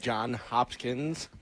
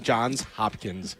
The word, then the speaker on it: Johns Hopkins: We are out here at John Hopkins. See now I'm saying it wrong. John's Hopkins.